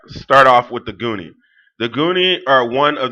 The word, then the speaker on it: Nguni: as the Nguni, and I'm not pronouncing the N because every time I pronounce the N, somebody tells me we don't pronounce the N, it's silent. So I don't know if the N is pronounced or not, but normally y'all tell me, Bantu people tell me it's not.